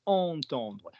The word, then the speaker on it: entendre: I've told you entendre. I do not want to hear this word pronounced any differently. What's the first syllable? En.